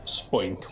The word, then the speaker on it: Spoink: This commenter, Spoink the Leg Day 3892, I think it's pronounced Spoink like the Pokemon, suggested such a villain